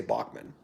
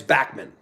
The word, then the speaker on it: Bachman: he doesn't mind if people say bachmann because bachmann sounds better you know everyone in the 70s said bachmann turner overdrive but it's backman and i've talked to